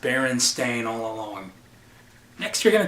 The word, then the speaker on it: Berenstain: And then once they hear it pronounced Berenstain, you're like, why are you pronouncing it that way? It's Bernstein. What do you mean it's been pronounced Berenstain all along?